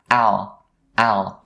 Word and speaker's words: I'll: into just one word, I'll. So most people find it hard to enunciate the L sound at the end of words like this.